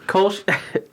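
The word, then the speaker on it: Kölsch: Kolsch. Let's relive the 9th episode. Yeah, it's just notes from that. Yeah, Kolsch is a style of beer brewed in Cologne, Germany.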